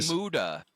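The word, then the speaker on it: Muta: Uh, Muda.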